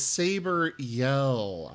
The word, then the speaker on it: Sabreyell: like to make uh oh no it's saber yell i see i see that's how the name is pronounced but i'd like to